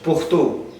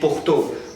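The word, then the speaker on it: پښتو: अच्छा, अब hard dialect जो है वो बोलते हैं पेखावर and also पुख्तो. So अब यहाँ पर आप देखें pronunciation इसकी जो है वो पेखावर and पुख्तो. But on the other hand, अगर हम soft dialect की बात करें, so they pronounce it like पेशावर and पुश्तो.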